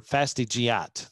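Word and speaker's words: fastigiate: columnar and upright forms or fastid giat that's how yeah i said it right i knew it would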